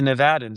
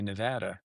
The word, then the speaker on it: Nevada: I think the Nevadans say Nevada. I hear it both ways.